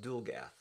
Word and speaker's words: Dulgath: on that very soon, that book would be pronounced Death of Dulgath.